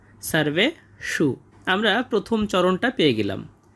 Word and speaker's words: সর্বেষু: তাই জন্য আমরা এর উচ্চারণটা করব সারভে সু এবং শেষে মূর্ধন্য স হওয়ার কারণে এর উচ্চারণটা আমরা গভীর থেকে করব। সারবে সু আমরা প্রথম চরণটা পেয়ে গেলাম। অয়নেশুচা সারবেশু।